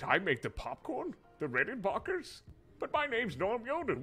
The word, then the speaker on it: Rickenbacker: It's Rickenbacker. Rick. Say Rick. Rick? And? In? Bach. Batch? Bach.